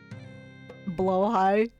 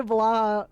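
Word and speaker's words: Blåhaj: Blow high. Oh no. Yeah, I've been saying it wrong. I say blah.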